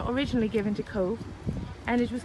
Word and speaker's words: Cobh: it was originally pronounced c-o-v-e or spell c-o-v-e and pronounce co so when they change the back they change it to c-o-b-h um so it's spelt c-o-b-h but pronounced co so i'm going to